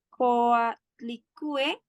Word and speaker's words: Coatlicue: si lo pronuncie bien, Coatlicue, una lectura feminista y latinoamericana de ayer y hoy. Bárbara, bienvenida. Perfecto. Bueno, buenas tardes. Sí, lo pronunciaste bien, seguramente yo también lo pronuncie mal, Coatlicue.